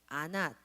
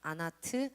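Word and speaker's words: עֲנָת: 와이프가 아낫이라는 와이프가 있었는데, 아낫 또는 그 당시에는요 모음이 없거든요. 그래서 발음들이 여러 개로 이제 변형이 돼요. 아낫, 아나트, 아스낫 뭐 이렇게 읽혀요.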